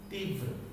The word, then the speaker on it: तीव्र: तीव्र, व में र है, तो पहले व का उच्चारण होता है फिर र का, याद रखिएगा। जब हम तीव्र पढ़ रहे हैं त में छोटी, त में बड़ी ई की मात्रा, फिर व का उच्चारण करेंगे फिर र, इसका ध्यान रखना। तीव्र कैसे पढ़ेंगे? तीव्र, र का उच्चारण बाद में होता है।